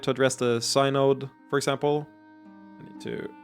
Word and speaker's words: synod: So in the end, probably a middle path, with the 7 high priestesses forming the official synod?